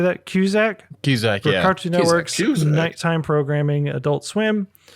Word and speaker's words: Cusack: Cusack, yeah.